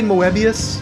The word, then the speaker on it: Moebius: I say Moebius.